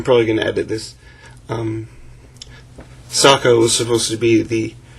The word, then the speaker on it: Sokka: didn't give the brother I he remembers named Socko saw Sokka was who the name's Sokka Sokka suck it was thus Sokka Sokka um